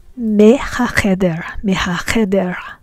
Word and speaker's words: מהחדר: But in the example below, we have me hacheder. We pronounce the mem as me because it is before a ha sound.